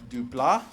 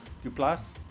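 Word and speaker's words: Duplass: Mark Dupla. Duplas.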